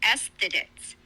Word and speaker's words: aesthetes: The word is aesthetes, spelled Aesthetes, pronounced aesthetics.